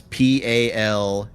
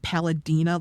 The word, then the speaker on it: Palamia: I will type it out, but it's Palamia. Okay, I was close. I thought it was like Palladina, like Pasadena, but Pala.